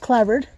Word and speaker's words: clapboard: bird just means it's spelled clapboard but it's pronounced clovered now the cladbird um just means it's these